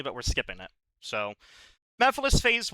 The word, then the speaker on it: Mephiles: we have Mephiles Phase 1, who I pronounced as a kid Me-Files. I was insistent it was Me-Files.